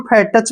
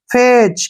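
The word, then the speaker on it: fetch: है ठीक है ना यहां पे देखिए टी के बाद सी एच आया तो यहां पर भी टी साइलेंट होगा तो एफ ई को हम क्या पढ़ेंगे फे ऐसे फे और टी नहीं पढ़ेंगे सी एच का उच्चारण क्या करेंगे च फेच क्या पढ़ेंगे फेच फेच क्या होता है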